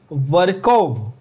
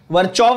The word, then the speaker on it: Virchow: Rudolf वर्कोव। वर्चोव नहीं बोलना, वर्कोव। ठीक है, वर्कोव।